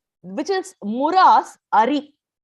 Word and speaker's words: ari: Which is Muras Ari. Ari means enemy. So Hari is Bhagavan, Ari is enemy. That's why pronunciation in Sanskritam we should be very careful, So A-R-I, Ari is enemy.